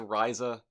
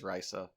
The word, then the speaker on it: Risa: would right wait is is it pronounced rhiza like like the alchemist or um is it rice oh you know i think you're right i believe it is risa but yeah i i i've had my brain poisoned they just say risa yeah which they're very deliberate on pronouncing it risa which to me is